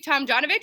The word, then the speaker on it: Tomjanovich: Today we have Rudy Tomjanovich. Is that how you say it? Yeah.